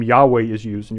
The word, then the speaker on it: Yahweh: Yahweh is used and you're probably thinking well Yahweh starts with a y but it was German Scholars who initially uh used that term and they pronounce uh the J as if it was a y uh it has been mistranslated in the past as Jehovah because of a misreading uh of the the the Hebrew notation system uh because